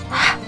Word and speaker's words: ح: You really blow the air, right? Ha, let's try with this one. Ooh, if we cover this, it will be aya. But there is a number 7 here, which is the ha, the letter ha. So we will pronounce it ha.